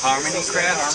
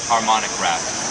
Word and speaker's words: Harmonic Craft: craft or harmonic craft Harmony craft Harmony craft Harmony craft no it is literally pronounced harmonic craft like harmonica joined by uh Joe